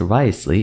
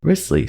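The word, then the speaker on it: Wriothesley: a cringe and die inside it's not actually pronounced risely it's pronounced riskly so I promise I will never make that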